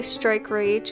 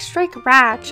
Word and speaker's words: Strike Rage: I also go by Strike Rage if you don't know how to pronounce it. Lots of people pronounce it wrong. They're like, Strike Ratch. I'm like, no, honey, that's not how you do it.